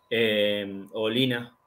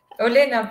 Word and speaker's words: Olena: me lo podés responder, Olina. Está bien, ¿no? Olina. Anótatelo, dale. Uy, bien. Ah, pero pronuncias la I. Pronuncias una I. Olina. No, Olina. Olena, Olena, sí.